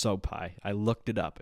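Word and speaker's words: Sopaj: got Ricky turos and Bernard soai yes that's pronounced soai I looked it up it's pronounced soai so um Ricky only won two out of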